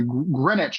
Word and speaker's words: Greenwich: It was located at 53 Christopher Street in the Greenwich Village. See, I know how this word is pronounced.